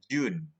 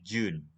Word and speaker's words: June: Nah, Juni ini bacanya gimana? June. Bacanya June ya. June, J Y U N, June.